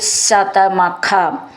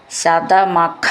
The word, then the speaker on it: ശതമഖ: വാക്ക് ഒന്നിച്ച് ചൊല്ലാനുള്ളതാണ് സ്പർദ്ധാലു ശതമഖ സ്പർദ്ധാലു ധ എന്നുള്ള അക്ഷരം നന്നായിട്ട് ഉറപ്പിച്ചു പറയാനുള്ളതാണ് ശതമഖ എന്നുള്ളതിന്റെ ഖ എന്നും നന്നായിട്ട് ഉറപ്പിച്ചു പറയണം സ്പർദ്ധാലു ശതമഖ രണ്ടു വാക്കായിട്ട്